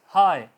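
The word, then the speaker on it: high: अगर आपका letter GH किसी वर्ड के आखिर पर आ जाता है तो वो साइलेंट रहेगा। फॉर एग्जांपल हाई, बुलंदी, हाई, HI हाई होगा, GH नहीं बोला जा रहा।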